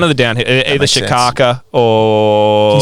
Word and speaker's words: Shaka: the down here either Shaka or spell it s h a it's like Shaka like Chuck in the Shaka um you could have